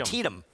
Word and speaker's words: Antietam: Yes, Greg and I are having a pronunciation Antietam. Antietam.